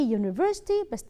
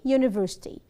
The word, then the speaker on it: university: U is a vowel letter but it is pronounced with what? with a consonant sound. Consonant sound a university. A university.